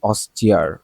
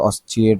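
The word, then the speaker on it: austere: সো এটার উচ্চারণ কি অস্টিয়ার, আমি কিন্তু অস্ট্রিয়ার পড়তেছিলাম, ঠিক আছে, কিন্তু এটা উচ্চারণটা হবে কি অস্টিয়ার, অস্টিয়ার, অস্টিয়ার, অস্টিয়ার মানে কঠোর, ঠিক আছে, সরল বা সংযমী।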